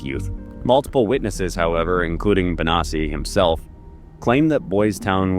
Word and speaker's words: Bonacci: And before you even say it, I know technically that should be pronounced Bonacci, but Paul pronounces it Bonacci, so that's how I'm going to say it. Whatever, it's his name.